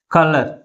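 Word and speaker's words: colour: అనేది చూద్దాం for example కలర్ ఎన్ని సిలబస్ ఉన్నాయి టూ సిలబస్ ఉన్నాయి ఏ సిలబల్ ఎక్కువ ఫోర్స్ గా పలుకుతుంది ఫస్ట్ సిలబుల్ ఎక్కువ ఫోర్స్ గా పలుకుతుంది అన్నమాట కలర్ how articular this word కలర్ దీనికి కి ఎల్ ఈ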